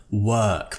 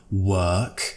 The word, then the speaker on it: work: to know is that with this word work we don't pronounce the letter R okay so it's just